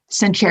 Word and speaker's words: Sincero: I'm going to say her name wrong. Sincero.